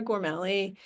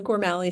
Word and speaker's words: Gormally: So, as Wall said, I'm Gormali. Um, there's actually a family debate about how to pronounce my last name. I'm currently in over on the Gormali side after spending a lot of the summer swimming with my family.